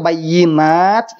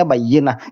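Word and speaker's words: بينات: Telah berfirman Allah Subhanahu wa Ta'ala, qala Allah Ta'ala, bayyinat, dibacanya bayyinah. Itu sudah bukan Al-Quran.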